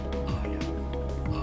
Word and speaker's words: Aya: Pretty sure it's Aya. I don't know. It's generally pronounced as Aya.